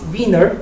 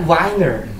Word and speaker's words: Wiener: you know, he is Wiener, not Wiener. And then I say, oh, I'm so sorry about that. And then there are two things. So, I mean, like, the Wiener is the correct pronunciation, and then the Professor